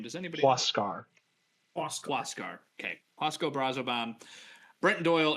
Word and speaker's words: Huascar: Huascar.